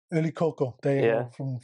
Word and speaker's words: Yli-Kokko: Yli-Kokko, from the man himself, Yli-Kokko.